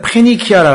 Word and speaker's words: 페니키아: 베니게는요, 이게 우리 옛날 발음이어서 좀 이상한데 영어로는 이게 우리 옛날 교과서나 그런 신문이나 이런 데는 페니키아라 그래요.